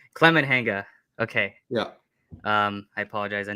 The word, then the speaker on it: Climenhaga: How do you pronounce it? Climenhaga. Climenhaga.